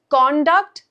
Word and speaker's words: conduct: Conduct conduct. Conduct conduct. So now we can see a pattern. Noun stress is on the first part. Verb stress is on the second part.